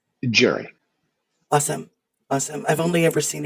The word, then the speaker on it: Gerry: So, am I pronouncing your name correctly as Gerry? I wasn't sure if it was Gerry or Gary. Gerry.